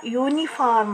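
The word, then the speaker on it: uniform: ಆನ್ ಹಚ್ಚಿದೆ ಅಂತ ಹಂಗಲ್ಲ ಇಲ್ಲಿ ಉಚ್ಚಾರ ಯೂನಿಫಾರ್ಮ್ ಅಂತ ಬರ್ತಾ ಇದೆ ಅ ಉಚ್ಚಾರ ಇಲ್ಲ ಇಲ್ಲಿ ವೈ ಉಚ್ಚಾರ ಇದೆ ನೋಡ್ರಿ ಯ ಉಚ್ಚಾರ ಇದೆ ಹಾಗಾಗಿ ಇಲ್ಲಿ ಏನ್ ಹಾಕ್ತೀವಿ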